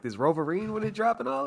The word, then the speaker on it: Wolverine: Do I be saying Roverine? Yeah, you do, man. Hey, the W silent. The W silent. Wolverine. Wolverine.